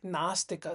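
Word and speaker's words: nāstika: These are the nastika schools. Notice the A is with a roof on Astika and Nastika. So, it's actually pronounced as a double A.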